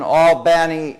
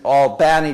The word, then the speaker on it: Albany: Protestants in the South now having lived in albani Georgia and Georgians um like to take words